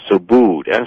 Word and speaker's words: Subud: are the author called effect which is a so booed su b UD that's how that's pronounced as well I mean so su su